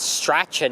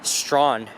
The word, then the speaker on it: Strachan: As I've mentioned, if you look at the street name, you'll notice that you think it's Strachan Avenue, but the correct way to pronounce the street is Strawn.